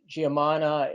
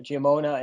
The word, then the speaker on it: Giamona: like challenges so colonel uh giamana is giamona and i should be